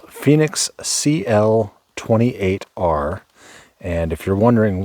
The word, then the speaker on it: Fenix: This is the Sofirn, or I'm sorry, the Fenix, I believe they prefer it to be pronounced, Fenix CL28R.